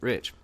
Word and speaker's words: Reich: standing inside joke because my last name is spelled re i CH like Reich yeah but we pronounce it rich and he swore up